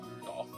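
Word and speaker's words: Rudolf: on it's just anyways this guy's name is pronounced rudol you must hate great Father for giving him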